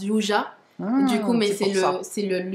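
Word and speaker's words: 유자: Du coup, donc yuza, donc on l'appelle yuza parce qu'en Corée, le yuzu se prononce yuja.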